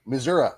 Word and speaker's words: Missouri: I believe yes sir Southeast Missouri Southeast Missouri Missoura as they pronounce it yeah welcome to the conversation right